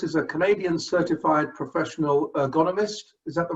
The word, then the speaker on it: ergonomist: Chris is a Canadian certified professional ergonomist. Is that the right way to pronounce ergonomist?